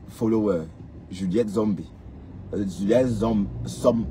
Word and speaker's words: Som: Juliet hom Som il faut que je prononce bien son nom son nom c'est S O M som.